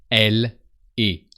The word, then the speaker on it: elle est: So she is actually sounds elle est, as if it was only one word.